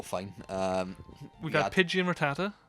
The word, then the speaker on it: Rattata: We had Pidgey and Rattata. Rattata, which when I was young, I used to say it Ratata.